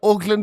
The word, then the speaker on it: Auckland: You say Auckland with an O.